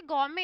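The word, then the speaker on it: gourmet: गौमे क्या होता है, इसमें टी साइलेंट है बच्चों, है ना, इसमें टी नहीं बोला जाता। ये गौमे है।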